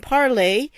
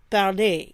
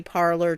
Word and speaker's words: Parler: a French teacher, so I'm going to say it like parler. Okay, I think that's how it's pronounced. I don't know. I've heard people say parlor too, but I say parler because that is the French infinitive to speak.